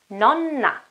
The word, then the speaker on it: nonna: When you arrive to a double consonant, you have to double that length, okay? It's not nona, which means something else. Nona, with just one N, it means the ninth. Okay, the ninth. It's an ordinal number. But with two N's, to N, it means granny. Okay, nonna. Nonna.